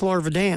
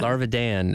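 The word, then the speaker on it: Larvadan: okay, and we learned it's Larvidan. Larvidan. Larvidan. The I threw me for a loop. What can I say? Same here. Tell you what, not to be mean, if you don't want the I pronounced, don't put it in there.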